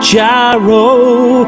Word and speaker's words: gyro: going to get a gyro although it's technically pronounced hero although I still want